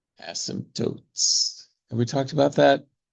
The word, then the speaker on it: asymptote: 2 points, 2 asymptotes. The word asymptote is a little strange. It has a silent P.